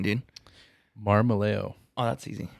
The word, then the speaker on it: Marmolejo: how do you say your last name dean marmaleo oh that's easy marmalayo yep all right so i think you guys